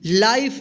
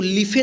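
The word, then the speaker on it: life: एल आई एफ ई, लाइफ, इसको लिफे नहीं पढ़ेंगे। ठीक है, या लाइफे नहीं पढ़ेंगे, क्या पढ़ेंगे लाइफ, डब्ल्यू एच आई टी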